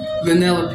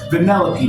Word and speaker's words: Vanellope: Vanellope is her name. Okay, thank you. Because I could never say her name. It looks weird. Vanellope.